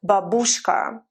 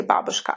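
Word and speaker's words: бабушка: exactly the same way if you learn to say babushka people don't say babushka after that so learn your stresses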